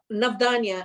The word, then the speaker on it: Navdanya: Navdanya is the pronunciation, and it means both 9 seeds for